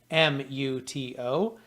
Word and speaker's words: Tramuto: And in case you might be phonetically challenged, like I can be at times, last name Tramuto.